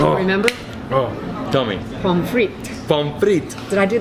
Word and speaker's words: pommes frites: How do you pronounce those French fries? Do you remember? Oh, tell me. Pommes frites.